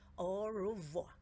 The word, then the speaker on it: au revoir: You say it like this. Au revoir. That's French for goodbye.